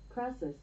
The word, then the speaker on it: Crassus: Crassus.